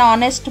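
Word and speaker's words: honest: Sound आ रही है जैसे एच साइलेंट होता है एच ओ जो है honour an honour an ऑनेस्ट मैन ही इज एन ऑनेस्ट मैन एन आर ठीक तो इनमें भी हमारा एन लगेगा।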